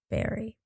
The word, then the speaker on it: Burry: Well, it's spelled Burry, but as I remember it being pronounced, it was Berry.